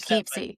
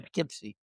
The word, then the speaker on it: Poughkeepsie: Poughkeepsie. No, you said it right, Poughkeepsie.